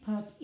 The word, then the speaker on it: puppy: Next one, Silly Happy Puppy. You better not get this one wrong. Don't you dare get this one wrong. Silly Happy Puppy. Sounds like an E, but it's spelled with a Y.